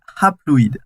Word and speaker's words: haploïdes: Et donc en fait les cellules filles là, elles sont devenues, en fait on dit haploïdes. Alors je dis hap parce que ça s'écrit HA.